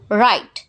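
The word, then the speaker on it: write: हैं हम लिख स राइट इस में डब्लू साइलेंट रहता है और हम पढ़ते हैं इसको राइट हेलो हाय इसमें जी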